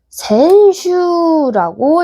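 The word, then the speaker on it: 先週: 힌트는 센세와 콘슈입니다. 맞아요. 그러면 지난주는 센슈라고 읽겠죠.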